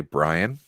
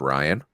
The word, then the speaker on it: Ryan: yeah for some reason people always think I say Brian when I'm saying my name is Ryan I don't know what